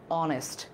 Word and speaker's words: honest: এ অনেস্ট ম্যান, এইচ থাকলে উচ্চারণ যদি পরে একটা ভাওয়াল থাকে তাহলে এইচটা সাইলেন্ট থাকে, উচ্চারণ হয় এইচের পরে যে ভাওয়াল আছে সেটা থেকে। আওয়ার, অনেস্ট, এই ধরনের, ঠিক আছে।